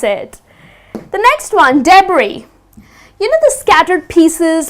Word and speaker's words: debris: are these scattered pieces of rubbish so it's debris I mean though it is spelled with an S but it's not pronounced as d'bries it is debris ok so it's that's how it would be